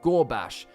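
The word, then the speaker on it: Ghorbash: to attack someone, like Gorbash. It's spelt as G-H-O-R-B-A-S-H, but it sounds like the word gore as in blood and guts, and bash as in bash someone's head in.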